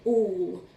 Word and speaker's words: all: Otherwise it'd be all, al, al. And we don't say alvus like chocolate. We say all. Okay, so it's making the kind of or sound at the beginning, to be honest. Or, all. But it's a letter A that's doing it. So this little fella is being a bit tricky in this word, okay?